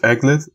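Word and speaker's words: aglet: So I think it's pronounced Eglet, and Phineas and Ferb have a song of it.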